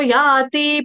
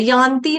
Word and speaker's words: याति: ततो याति परांगतिम, ततो याति परांगतिम। देखो मैंने पहले भी बताया था, इस याति के ऊपर बिंदी नहीं है, यान्ति नहीं है, याति, याति।